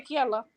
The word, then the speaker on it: Kiala: Gostei do parecer que deu que o nome não é Kiala, não é? É Kiala. O nome Kiala não se escreve com Q. Certo. É com K. Porque a letra Q não existe no nosso Kikongo.